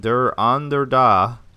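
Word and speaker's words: Der Andere Da: It's D-E-R, so I'm saying Der, and then Ander is A-N-D-E-R-E, and then just da, like D-A, like yes in Russian.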